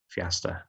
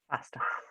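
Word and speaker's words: Feasta: a trustee of uh fiesta or faster how do you pronounce that michelle faster faster so michelle you've got 15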